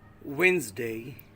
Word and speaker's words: Wednesday: Etc epet me Wednesday repeat it with me Wednesday day it is not witness day October October it is